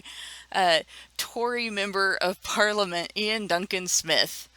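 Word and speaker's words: Iain Duncan Smith: Tori Member of Parliament Ian Duncan Smith hopefully I just pronounced his name right and it's not ion but if it is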